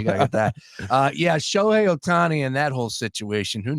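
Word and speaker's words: Ohtani: uh Orioles Twins and ashar wonder what shiao atani is gonna bet on sh sh I'm sorry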